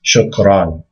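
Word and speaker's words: شكرًا: So remember, if you see a doubling, it's going to basically add an invisible noon onto the fatha. So that's shukran, actually, if you pronounce it.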